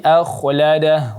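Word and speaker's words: أخلده: Kemudian juga tadi akhladah, huruf kha-nya ditebalkan karena sebelumnya ada hamzah, huruf yang hamzah berbaris fathah maka dia menjadi tebal.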